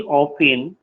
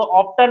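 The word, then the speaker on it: often: इसको ऑप्टन मत पढ़ना, ऑफिन पढ़ना है, ठीक है, ये वाले को नहीं पढ़ना है, टी को नहीं पढ़ा जाता है।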